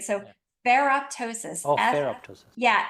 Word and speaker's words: ferroptosis: you just say it perosis in fact I'll spell it because it's such a new word for all of us right so ferroptosis ferroptosis yeah f e r r o p